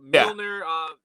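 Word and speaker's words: Mjölnir: But Mjolnir, the water is awesome.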